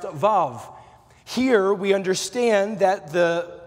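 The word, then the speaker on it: ו: Tonight we're looking at the sixth Hebrew letter tonight, pronounced Vav.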